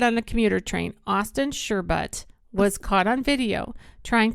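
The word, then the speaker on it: Shurbutt: It's spelled Sherbut. S-H-U-R. Sure. But. B-U-T-T.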